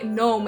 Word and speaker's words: gnome: it's too sweet can someone please tell me why gnome it's spelled with the G shouldn't that spell gun ohm let me tell you